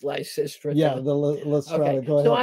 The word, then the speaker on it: Lysistrata: Have you ever read the play Lysistrata, which I'm told is pronounced Lysistrata?